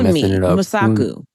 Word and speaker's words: Wunmi Mosaku: Wunmi Mosaku.